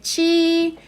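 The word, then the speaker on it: 七: tono verdad por eso se lee chi pero con respecto a la cu recuérdense que no se lee de la misma forma que la ley emo que que leemos la letra en español verdad entonces sí sí y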